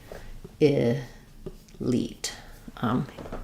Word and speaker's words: elite: Again, we're stressing on the elite syllable. Letter I says E in this word. That means our first syllable is going to be a reduced I sound.